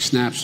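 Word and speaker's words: Synapse: Health System and snaps I think I'm pronouncing it right s y n a PS e it sounds like snaps this but anyway forgive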